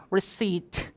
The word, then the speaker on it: receipt: 정말 샀는지 안 샀는지에 대한 증거 자료를 제출하라고 하는데 그걸 간단하게 한 단어로 receipt, receipt, 영수증이라고 합니다. 발음 좀 조심하실 게 저 P가 묵음이에요. 그래서 receipt가 아니라 뭐다?